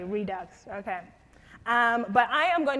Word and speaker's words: Redux: react Jas react and I'm for non-americans pronounce it radix did I say redux okay redux okay but I am